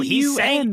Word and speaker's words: pun: I It's don't- Oh, P-U-N. he's saying a Poon. pun. It's a pun, you illiterate son Oh.